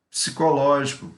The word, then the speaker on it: psicológico: a pronúncia site lógico o p mudo tá sai ecológico psicológico e continuando daqui no